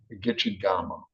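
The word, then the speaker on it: Gichigami: It's actually pronounced Gitchigama, Potawatomi, and a Ojibwe word. I'm not sure why the K is sound like a G, but he lived 2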